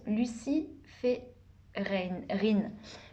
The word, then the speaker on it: luciférine: dans la nature grâce à l'oxydation des substances luciférines. Luciférine, ouais, je le prononce bien, je l'ai noté tout à l'heure.